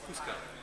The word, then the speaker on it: Kuska: How do you say Kuska? No, it's Kuska. Kuska. Oh, okay.